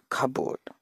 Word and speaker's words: cupboard: the next piece couple whenever P follows B we have to pronounce as by deleting peak or the board cop aboard is wait to listen cupboard and there are certain